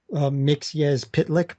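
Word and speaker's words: Mxyzptlk: like leave a comment is I know it's pronounced mix yes pit lick but you know I I learned a new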